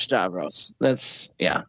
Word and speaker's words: Stavros: So yeah, skip Bill Burr this time and go watch Stavros. And it's spelled like it sounds.